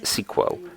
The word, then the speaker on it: SQL: rather wearing than programming is called SQL or sometimes it's pronounced as sequel simple query language for